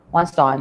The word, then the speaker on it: Weinstein: Weinstein, yeah, that's it. Because I remember him saying he didn't like his name pronounced the other way around.